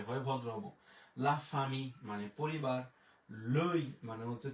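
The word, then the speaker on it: la famille: এরপরে এল আ, লা, এফ আ, ফা, এম ই দোজেল ও থাকলে হয় রস্যিকার, তাহলে হয়ে গেল লা ফামি। তো লা ফ্যামিলি কিন্তু বলা যাবে না, পরিবার, পরিবারের ফরাসি লা ফামি, লা ফামি।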